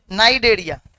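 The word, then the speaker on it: Cnidaria: में क्या बोलते हैं नारिया सी साइलेंट होता है नाइ डेरिया ठीक है डेरिया भी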